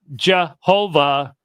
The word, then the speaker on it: Jehovah: actually more from Adonai that Jehovah has become a three- syllable word rather than the two- syllable word that it's actually translating there wasn't a j sound right yes I've seen